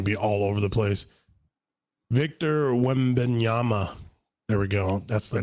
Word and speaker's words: Victor Wembanyama: Oh yeah, I'm gonna have to learn how to pronounce this guy's names because he's gonna be all over the place. Victor Wembanyama.